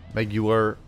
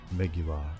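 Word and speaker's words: Meguiar's: Meguiar. I'm going to say it like Jaguar. Like Jaguar. Just like how Mark Strong would say. Jaguar. Meguiar.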